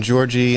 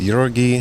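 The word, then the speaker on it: Jorge: old is uh what how do you say his first name Georgie yeah we've been saying Georgie uh he says Yori oh Yori uh okay so I think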